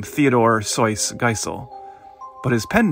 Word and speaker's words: Seuss: eventually begrudgingly accepted that most people were dead set on mispronouncing his middle name as it was spelled and so even he stopped referring to himself as soyce as it was meant to be pronounced and instead accepted that he was forever more to be known as Dr Seuss the year is 2003